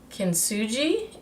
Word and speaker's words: Kintsugi: Kintsugi is how you pronounce it.